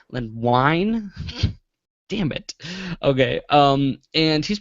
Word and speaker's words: Wein: Len Wein. Wine.